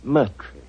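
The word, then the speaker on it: Murtry: you Doctor uh my name my name is Merry Oh indeed spelled m u r t r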